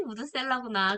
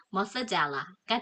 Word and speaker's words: Methuselah: 아, 이 무드셀라가 이 무드셀라구나. 그래서 오래 산 거에 이름에 들어갔구나. 그러니까 원래 그 무드셀라의 영어식 발음은 예, 머스젤라가 되는 거죠.